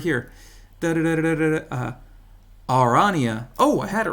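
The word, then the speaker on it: Aranea: Actually, I know how to pronounce it. It's got it right here. Arania.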